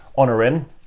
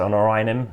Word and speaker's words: Honorim: And I did ask, actually, how do you pronounce it for the original, which I will find somewhere. Honorim. I know some people say Honorinim and stuff like that, or whatever it might be. But that pronunciation I gave is how he would say it as well. So Honorim is how you say that system, the first one in the series.